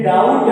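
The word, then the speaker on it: doubt: लिखा है यू बीटी डाउट नहीं लिखा है ये डाउट है इसमें क्या है बी साइलेंट है नहीं पता है अगर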